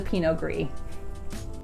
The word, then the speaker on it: Pinot Gris: Now, to go hand in hand with this, its white grape counterpart is the Pinot Gris. Again, the consonant is silent at the end of both words, so instead of saying the Pinot Gris, it is pronounced Pinot Noir.